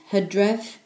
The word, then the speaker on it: Hydref: September in Welsh is spelled as M-E-D-I, and is said as Medi. October is Hydref, spelled as H-Y-D-R-E-F.